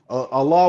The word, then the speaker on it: Allah: Allah would be the correct pronunciation it's the same of name.